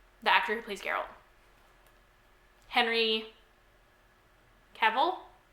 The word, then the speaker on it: Cavill: please Carol Henry Cavill I feel like I've heard that it rhymes with the devil but with the sea